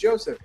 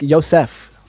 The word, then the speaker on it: Joseph: Like Yosef. Oh, Yosef. Okay, yeah, I know who you're talking about. That kid's cool. He's he doesn't mind either pronunciation because a lot of people would read that as Joseph.